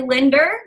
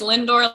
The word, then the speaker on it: Lindor: I want you guys to meet Karli Lindor. Did I say it right? It's Lindor like the chocolate.